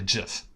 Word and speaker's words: gif: down here's in like how do you pronounce gif it's actually jiff so says the Creator what is the best